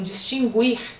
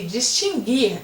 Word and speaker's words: distinguir: Muitas pessoas falam distinguir e essa forma não existe. Extinguir. Muitas pessoas falam extinguir e também esta forma não existe. Extinguir e distinguir, assim é o correto.